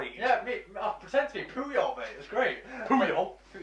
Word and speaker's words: Puyol: yeah, I pretend to be Puyol, mate. It was great. Puyol. Puyol, sure. Well, I can't No, remember. Puyol.